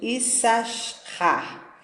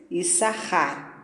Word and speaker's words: Issachar: Por essa razão, Issachar, que muitos leem incorretamente, Issachar, pronunciam-no depois de ler este versículo com um S a menos, Issachar.